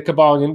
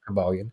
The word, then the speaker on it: Kybalion: these seven principles and as I said the cabalan which is spelled by with a k and a y by the way KY cabalan yeah if you look at your life and